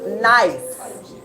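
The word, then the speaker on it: gneiss: rocks the first one it starts with a g but it's actually pronounced n that first one g n e i SS is pronounced nice yes um then we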